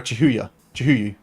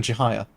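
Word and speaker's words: Chihaya: Is it deliberate you calling her Chihuyu, rather than Chihiya?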